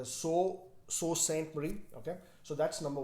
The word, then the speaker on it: Sault Ste. Marie: Well, I've been told it's not pronounced as salt or saw. It's pronounced as Sault Ste. Marie.